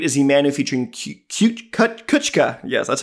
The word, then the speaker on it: Kuchka: And as we hop into number 8 is Emanu featuring Kuchka.